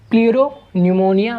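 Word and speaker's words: pleuropneumonia: प्लूरोन्यूमोनिया like organism, प्लूरोन्यूमोनिया like organism, इसमें P silent होता है, ठीक है।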